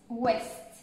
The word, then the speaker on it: ouest: Seulement le D ne se prononce pas. Les autres, on prononce la fin. Sud, est, ouest, on prononce la fin du mot.